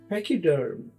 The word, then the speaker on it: pachyderm: ई आर एम पैकीडर्म इसको pronounce करेंगे जैसे आप बोलते हैं पैक तो इसके आगे डबल ई लगा दीजिए पी ए सी के पैक और डबल ई पैकी और डी आर एम डर्म पैकी डर्म इसका मतलब है मोटी